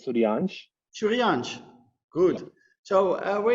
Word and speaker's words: Suryansh: It's pronounced as Suryansh.